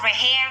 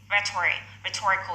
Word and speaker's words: rhetorical: Cái này không có rehe đâu nhá, không có rehe mặc dù nó ghi như thế nhưng mà đọc là rhetorical skills. Bỏ chữ H luôn, cái H là âm cầm.